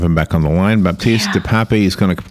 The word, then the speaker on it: Baptist de Pape: with pronouncing my name it's uh batiste the pop it's a french name okay although i'm dutch